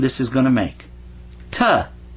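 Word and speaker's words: تاء: Ta. Say two. Ta. Well, this is ta. So make the sound of ta right there.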